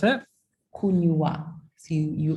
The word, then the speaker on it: kunywa: It's kunywa, but not kunwa. Not kunwa. Kunywa. Kunywa. So it's kunywa. Okay. I'm overpronouncing the Y, as you told me last time. Yeah, it's overpronounce the W. It's a very slight difference.